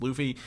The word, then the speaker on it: Luffy: I've been pronouncing it Luffy. It's Luffy.